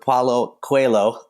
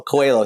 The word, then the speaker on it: Paulo Coelho: Okay, it is indeed The Alchemist by Brazilian author Paulo Coelho, who, by the way, I looked up how to pronounce his name online, and every single website and YouTube video has a different pronunciation of it.